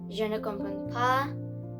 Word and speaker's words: je ne comprends pas: And the way we pronounce this sentence is je ne comprends pas. Now, the reason you do not pronounce these letters because there is no E at it, like at the end.